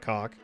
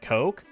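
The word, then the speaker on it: Cocke: It's pronounced like Coke? Hey, okay. So, okay, not cock, Coke.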